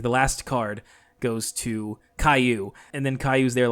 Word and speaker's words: Caillou: i think you have a default way from what i can tell that goanimate pronounces his name is not caillou it's kaylu and so there was